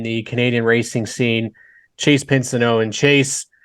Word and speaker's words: Pinsonneault: We pronounce it the English way, so Pinsonneault. There's like Pinsonneault is the French way, so there's a couple different pronunciations there.